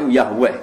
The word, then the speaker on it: Yahweh: Wong Yahudi nyembah itu tulisan kapitale Yahweh, Y dengan huruf kapital, A dengan huruf kapital, H dengan huruf kapital. W dengan huruf kapital, E dengan huruf kapital, H dengan bacanya Yahweh.